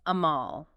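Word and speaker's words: עמל: The word amal, pronounced a-m-a-h-l.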